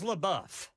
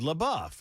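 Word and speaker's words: LaBeouf: He was in the Well, the It is Labou. Uh, yeah, that's what Ken said. Labbuff. It's not labou like Jackson was saying.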